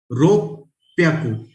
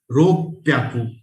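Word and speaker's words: 六百: योन याकू, गो याकू, रो प्याकू. यहाँ पे pronunciation again ROPPYAKU. रो प्याकू.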